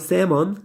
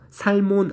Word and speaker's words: salmon: Correct environment, 정확한 환경 for salmon, salmon은 연어예요. 살몬 안 그러고 여기서 이제 L 소리가 묵음 처리가 되기 때문에 아무튼 salmon이라고 읽습니다. 연어에 대한 정확한 환경.